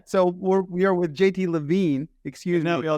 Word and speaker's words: Levin: pass it's it's pronounced you spelled it right it's it's pronounced LaVine oh okay good we